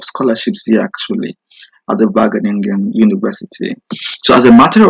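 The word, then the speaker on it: Wageningen: in the previous video in German and in Dutch the W is pronounced as V so it's vening in University of research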